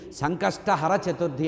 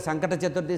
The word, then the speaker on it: సంకష్టహర చతుర్థి: తీరడానికి ఉండేటువంటి ఈ చతుర్థిని సంకష్ట హర చతుర్థి అంటారు మనవాళ్ళు తెలియక సంకట చతుర్థి సంకట చతుర్థి అంటారు అంటే సంకటాలు రావడానికి కోరుకున్న చతుర్థి లాగా ఉంటుంది మన ఉచ్చారణే తప్పు సంకష్ట హర కష్టాల్ని హరించాలని చెప్పాలట సంకష్టహర చతుర్థి దీనివల్ల సంతానం కావాలన్నవాళ్ళ సంకట